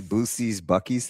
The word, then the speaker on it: Buc-ee's: Are we really going to argue over this Bu-Cee's, Buc-ees thing? It's Bu-Cee's. No, I know you're being serious. Yeah, no, it's 100%. It's Bu-Cee's. I don't know why we always say Buck.